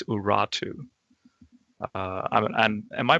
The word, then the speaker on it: Urartu: a lot of ancient literature will say it's Urartu. And am I pronouncing that right? Is Urartu the?